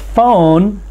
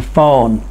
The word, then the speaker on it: phone: only make one sound e at the end of phone is silent and so we do not pronounce the sound of the e it's silent and it